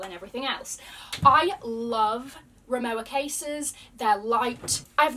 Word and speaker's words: Rimowa: This is the biggest size that Rimowa, I think it's actually pronounced Rimowa, I think, in German, I believe.